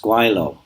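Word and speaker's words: 鬼佬: in hong kong and that is pronounced guilo which simply means ghost fellow or devil fellow most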